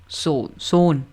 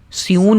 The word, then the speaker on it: sewn: सोन, SEWN की pronunciation कैसे होगी? सोन। SEWN को हम स्यून नहीं पढ़ेंगे, पहले मैंने गलत बता दिया था, सोन पढ़ेंगे।